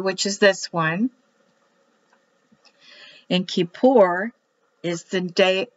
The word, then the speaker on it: Kippur: K-I, which is pronounced like E. P, because the dot now is in there. U-R. Kippur. Kippur. Kippur. Kippur. Kippur. They will roll the R and the K is like ch.